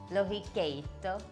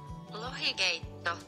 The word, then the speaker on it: Lohikeitto: I'm gonna make a salmon soup, and I tried to get the pronunciation correct. Lohikeitto, I think. Lohikeitto. Lohikeitto.